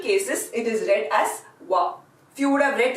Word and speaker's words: は: come across this character the pronunciation for this was was ha but all through the example sentences when I was reading it I read this as wah wah is the equivalent hiragana character for wah it is this so